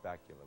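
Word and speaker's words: Bakula: is played by Scott bacula which rhymes with Dracula a St Louis native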